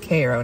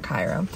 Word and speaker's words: Cairo: with the USS Koo I found out I was saying it wrong it's USS Koo not Cairo but we just got